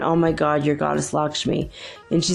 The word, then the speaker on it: Lakshmi: the Tibetan tradition she's also called tommy'll tal Lakshmi is spelled Lak SH am I Lakshmi Lakshmi so she is the Hindu goddess of